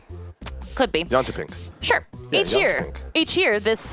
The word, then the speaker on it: Jönköping: in Sweden, in a city I might not pronounce correctly. Here we go. Jönköping. Could be. Jönköping.